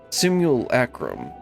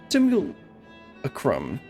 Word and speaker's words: simulacrum: Simulacrum, I think is how you're supposed to say it, but I always pronounced it wrong.